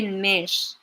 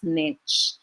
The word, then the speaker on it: niche: mitch others would say nish okay uh segue why is it pronounced that one that that way rather for americans and canadians mainly they call it they pronounce the word as niche but for those who